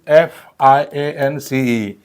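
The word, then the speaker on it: fiancé: Now next word is FIANCE.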